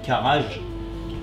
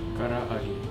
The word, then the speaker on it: karaage: Ça s'appelle un karaage. Et ça s'écrit comme si ça s'écrit karage. Karaage. Mais c'est karaage.